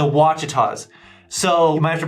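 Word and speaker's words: Ouachitas: let's pronounce it together starts with an O sounds like a w to me I don't make the rules for English I kind of wish I did but the wachitas so you might have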